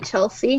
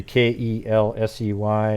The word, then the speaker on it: Kelsi: So yeah, so I just say the first name, because if I can't pronounce, like, I hate when people call me Chelsea.